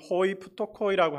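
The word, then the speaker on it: οἱ πτωχοί: 가난한 자에 해당되는 헬라어 발음으로는 호이프토코이라고 하는데요.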